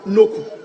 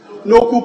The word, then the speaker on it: Noku: Right, Honorable Speaker, my name is Noku. what? Noku. Noku pronounced as in a U. Okay. N-O-K-O-E, but it's pronounced Noku.